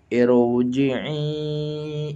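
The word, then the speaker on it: ارْجِعِي: Maka lafadz irji'i adalah ro-nya tafkhim, sehingga dibacanya irji'i ila rabbiki radiyatan mardiyah.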